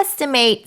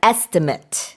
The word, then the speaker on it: estimate: Um, as a verb, by the way, when you say estimate, the pronunciation changes a little bit. A little bit. Yeah. So, you would uh estimate. I estimate something something.